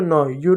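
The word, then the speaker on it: new: अब देखिए ई डब्ल्यू है, तो ई डब्ल्यू रहेगा तो उसका उच्चारण भी यू के रूप में होगा। देखिएगा एफ का बच्चों आधा फ, ई डब्ल्यू का यू हो जाएगा फ्यू। एन का बच्चों नो, यू डब्ल्यू का हो जाएगा न्यू।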